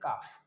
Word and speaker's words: calf: CALF इसकी spelling होगी बट इसको पढ़ा जाता है काफ।